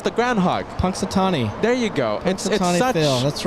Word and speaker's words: Punxsutawney: me how to pronounce that it's the groundhog Punxsutawney there you go that's right I have I know what it is Joshua knows what it is I just pronunciation Punxsutawney yeah there you go as we change the